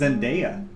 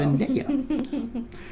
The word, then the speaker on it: Zendaya: as Tony Stark, Iron Man, and Zendaya as Michelle. It's actually pronounced Zendaya. Found that out. Zendaya.